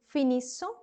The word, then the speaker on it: finissons: I'm saying finissons. The double S is going to be sounded as se, and ONS is on.